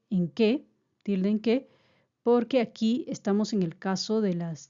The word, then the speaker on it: porque: junos y sin tilde atención con la pronunciación de la palabra porque pues es llana observen aquí estoy en un caso de tilde general porque dos sílabas la sílaba tónica está en la en la segunda uno dos en por y no lleva tilde ya que termina en vocal termina en vocal por lo tanto hay que tener presente la pronunciación también debe ser porque y no Por qué